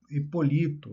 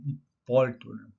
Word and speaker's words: Hipólito: Nós estamos aí nono lugar, Hipolito, não é? Eh, acho que é o nome dele se pronuncia assim, né? Hipólito, perdão.